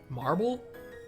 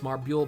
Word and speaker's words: Marbule: Simply because of the U there, so it didn't seem...